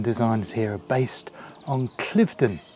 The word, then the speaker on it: Cliveden: And it's said that the garden designs here are based on Cliveden. I think it's spelt Cliveden, but pronounced Cliveden, in Buckinghamshire somewhere that I've not been to.